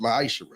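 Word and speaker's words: מעשר: chapter 3 vers 8-10 means 10th in Hebrew and it's pronounced myisher 10% of every penny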